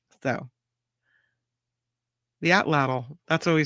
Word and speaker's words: atlatl: Most people say atlatl, but they say the exact pronunciation may be lost to time. So, the atlatl, that's what we say it here.